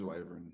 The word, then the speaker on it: wyvern: It is wyvern. Never mind. but now MMK, how do you pronounce your class? Artificer. Artificer. No, nobody says art. Artificer. See, it's I said- artificer. Artificer. No, it's wyvern and artificer.